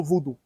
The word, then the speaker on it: vaudou: Le village a pour nom Zumbodji, un village typiquement vaudou. Les maisons ici sont protégées par les divinités vaudou. La vraie prononciation, c'est Vaudou.